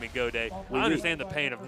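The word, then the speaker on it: Gaudet: And you hear Godet, and you think it'd be spelled G-O-D-A-Y. You know, why not? Right. But it's spelled G-A-U-D-E-T, so everybody thinks it's got it, but it's not.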